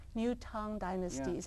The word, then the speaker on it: Tang: and it's pronounced it's it's spelled Tang but it's pronounced tongue new tongue Dynasty is how we